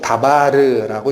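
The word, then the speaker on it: דבר: 계명이라는 단어가 역시 히브리어로는 다바림이라고 읽힙니다. 그런데 이건 복수예요. 단수로는 다바르라고 읽힙니다.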